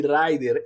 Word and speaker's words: Rider: rider é rider, né? Em inglês seria a pronúncia correta, mas a gente vê o pessoal pronunciando na Espanha Lei Rider. Lei Rider. Então, esticando bastante esse R, né?